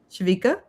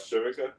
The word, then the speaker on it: Shivika: Shavika? Oh, Shivika threw a little party? And wait, what's her name? How'd you say it? Oh, Shivika? Shivika. I kept saying, I think I said it wrong last time too.